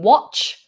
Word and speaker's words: watch: Okay, David's asked, how about the difference between watch? Make sure there's a T in that word, David.